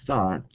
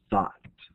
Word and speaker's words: thought: So when you pronounce this word thought, you don't really pronounce the gh. You just kind of say thought like that.